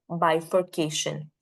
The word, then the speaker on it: bifurcation: is already mentioned right it is going to be four syllables one takes the secondary uh stress and again the third syllable will take the primary stress right but over here